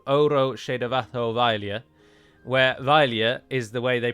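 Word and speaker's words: abhaile: famous irish folk song called oro shadavathovailia where vailya is the way they pronounce that word at the end but in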